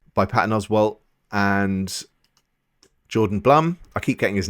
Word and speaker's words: Blum: Patton Oswalt and Jordan Blum. I keep getting his name wrong. I keep saying Jordan Bloom. Apparently it's Jordan Blum.